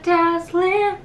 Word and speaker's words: dazzling: A whole new world, a dazzling place I never knew. But when I'm high up here, it's crystal clear.Tonight I'm in a whole new world with you。これもなんかめっちゃいい。やばい。気になったのはここだね。ここの dazzling。 dazzling。 dazzling でちゃんとあーってこの口角上げていく。